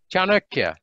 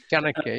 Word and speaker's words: Chanakya: Chanakya. Chandrakya. Chanakya, yeah.